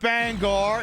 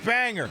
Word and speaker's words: Bangor: The G is silent. It's not Bangor, it's Banger.